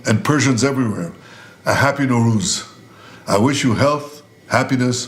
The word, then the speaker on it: Nowruz: Prime Minister Netanyahu once again reaching out directly to the Iranian people, wishing them a happy, it's pronounced Nowruz? Nowruz, the Persian New Year.